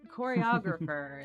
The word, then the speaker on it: choreographer: I almost said choreographer. Choreographer is how you say that word, but the emboss is on the wrong sab.